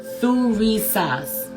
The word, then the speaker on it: Thurisaz: Pronunciation, Thurisaz. Letter sound, as in thorn.